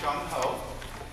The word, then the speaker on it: Jung Ho: question asked a lot my name is pronounced Jung Ho with a hard J and you can call